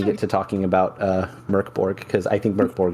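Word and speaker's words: Mörk Borg: where it says like pronunciation is Merk Borg it's a Swedish it means dark Fort and yeah it's pronounced M Ur k b o RG Merk Borg at least that's that's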